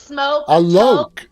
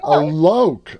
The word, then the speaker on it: Alok: look i'm so sorry here's how you remember alok alone or rhymes with a joke exactly a loke all right now look